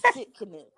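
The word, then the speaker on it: Tsidkenu: So that is Jehovah Shalom, and Shalom is spelled Shalom. And then my last one is Jehovah. Stick with me, people. Jehovah Sitkanu.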